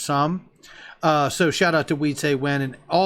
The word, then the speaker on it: XUMM: Now, I'm not going to run you through all of them, but they are talking about the Sum app, XUMM, I believe it's pronounced Sum.